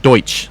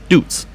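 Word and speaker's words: Deutz: And by the way, when he says Deutsch, he's spelling it D-O-Y-C-H. So here's the question for me, folks. If they want it pronounced that way, why don't they spell it that way? Why is it spelled D-U-E-T-Z then? Deutsch. So I pronounce it the way it's spelled, which, yeah, it might be wrong, but that's the way it's spelled, so.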